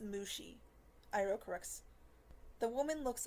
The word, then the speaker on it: Mushi: Lee and Mr um mushy is it the woman asks sounding unpleasant as she speaks off our aliases it's pronounced Mushi iro corrects the woman